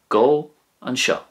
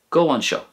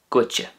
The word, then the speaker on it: gabh anseo: And in Ulster, if you wanted to say "come here," you would say go an seo, go an seo. And that's very often shortened down to gwitje, gwitje. So there are the three main ways of saying "come here" in the three dialects.